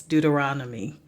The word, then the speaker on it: Deuteronomy: pronunciation gets messed up I know how to pronounce the books of the Bible um I'm just dealing with dentures and things Deuteronomy there we go um Joshua Judges Ruth 1